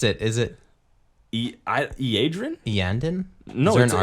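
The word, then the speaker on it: Iyanden: Is it Iadrin? Iandin? No, Is there it's an R a in there? Y. It's Iaydren.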